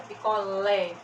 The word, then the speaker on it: picolé: quando nós temos aqui ó picolé a última sílaba mais forte você é oxítona jacaré